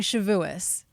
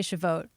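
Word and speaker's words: Shavuot: Lauren Shabu I mean depending on the ashkanazi versus the you know uh uh spartic uh uh pronunciation but uh he's saying shuis I would I would probably say shote but he but shuis is also said I I know what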